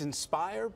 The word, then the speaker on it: nspHire: me the name again it's inspired but it's spelled NSP hire NSP higher well good